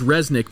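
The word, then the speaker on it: Rzeznik: by guitarist vocalist john i think his name is resnick but it's spelled r z easy in i case but i'm gonna go with resnick uh bassist uh vocalist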